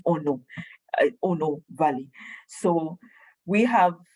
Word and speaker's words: Ono: Now, Ono is it's the name of the place, but it's pronounced Ono, Ono Valley.